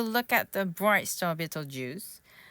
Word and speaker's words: Betelgeuse: 우리나라 말로는 베텔기우스잖아. 이거 비틀주스래.